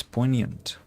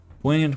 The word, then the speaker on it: poignant: Poant. Poant. What? Po? No, it's poignant. Ha. Poignant. Yeah. Poant.